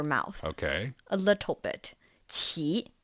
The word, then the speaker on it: 奇: The first syllable, it's not the CH sound from English, right? It's somewhere in between. Somewhere in between. Yeah. So 奇, qi, qi.